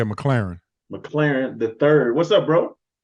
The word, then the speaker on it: McClarin: My man, McClain III. McClarin. Did I say it right? How'd I say it? Yeah, McClarin.